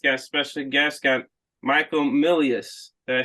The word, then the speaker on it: Milius: brain Forest podcast got special guests got Michael Milius did I say it right yeah you got